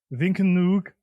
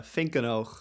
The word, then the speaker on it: Vinkenoog: I'm going to say, okay, Vinkenoog, but it's not that. Can you pronounce it properly? Yeah, Vinkenoog. Okay. Nowhere near.